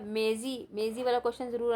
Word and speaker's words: मेजी: यह है जापान में मेजी यह बेटा स्पेलिंग गलत है मीजी नहीं है मेजी है मे जी मेजी जापान में मेजी शासन